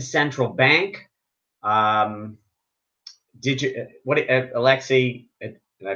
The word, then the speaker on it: Aleksi: at the Finland central bank did you what Alexei and I pronounce that right yeah Alexei I what did you say do your charge